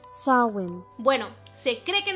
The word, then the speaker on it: Samhain: significa fin del verano y sé que parece que lo pronunció mal y por más que esté escrito como samhain o sunshine no de hecho se pronuncia así show in bueno se cree que